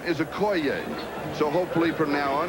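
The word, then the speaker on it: Okoye: the years you have heard this man's name pronounced Christian AO we asked him yesterday because we heard that we had been pronouncing it wrong he says yes he says everybody has the correct pronunciation is a CO so hopefully from now on it will be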